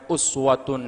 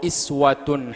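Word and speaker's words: أسوة: dalam tafsir Al judaiyan dua cara membacanya Uswatun Hasanah Hai aao iswatun Hasanah suri tauladan yang baik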